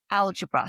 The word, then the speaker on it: algebra: um sense and then in the 17th century the accent had shifted. So where it was alabar it moved to algebra so the the accent shifted from the second syllable to the first eventually evolving into the